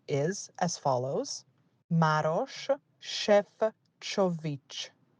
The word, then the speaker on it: Maroš Šefčovič: I'd like to point out that the correct way to pronounce the commissioner's name is as follows. Maroš Šefčovič. It's not Sefcovic, it's Šefčovič.